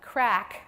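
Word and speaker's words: craic: an Irish pub and it's called crack which is spelled c-r-a-i-c because it's Irish and um so yes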